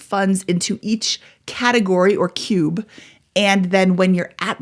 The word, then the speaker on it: Qube: Cube, that is spelled Qube.